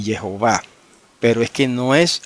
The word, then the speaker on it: Jehová: Y Jehová tiene 3 sílabas.